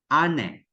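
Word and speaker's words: あね: That is matigas na pagka Matigas na pagka-pronounce dapat siya. Then, this one, ane.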